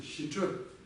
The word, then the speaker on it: ཞི་ཁྲོ: И правильно это произносится, соответственно, щичо. Щичо. Щичо. Щичо, то есть низкий тон, чо.